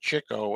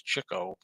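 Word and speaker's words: Chico: don't really think that Cho and that's how you say it it's not ch it's Cho Believe It or Not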